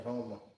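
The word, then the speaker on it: Houma: H-O-M-A, Homer. That sounds like it's pronounced coon ass. Homer. You drop the R, Homer.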